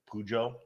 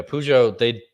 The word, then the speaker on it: Peugeot: Peugeot? No. No, that's how you say it. Yeah, Peugeot? yeah, Peugeot.